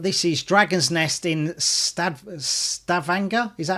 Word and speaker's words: Stavanger: But this is Dragon's Nest in Stavanger.